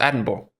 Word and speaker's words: Edinburgh: It's spelled Edinburgh, but it's pronounced Edinburgh.